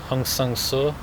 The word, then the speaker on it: Hong Sang-soo: part because actually want to mention the director Hong sang-soo that's how you pronounce it and Eric Rome or another director